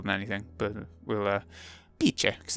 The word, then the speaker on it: Bice: Bice, in Italian, so she's Italian, apparently. So, Bice. I'd probably say Bici more than anything, but we'll, Bice, because it's Italian.